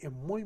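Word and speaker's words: Moo: mo m o o así como mu pero m o o y se pronuncia mu buenísimo se lo recomiendo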